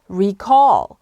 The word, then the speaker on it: recall: 악센트가 뒤에 오셔야 됩니다. recall. 그리고 call자를 조금 더 길게 빼셔야 됩니다. recall. recall로 발음하셔야 됩니다.